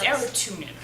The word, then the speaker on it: Arutunyan: don't mind it if people mispronounce my arot tunan it's a tunin okay that's fine not